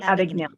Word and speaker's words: Abagnale: of the Frank Advocate can you help me pronounce that word Frank yeah big nail Frank Abagnale thank you if you if you've seen the